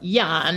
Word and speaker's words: Jan: blank van e oh Jan yes or Yan as they probably pronounce it right in in the Netherlands so I didn't know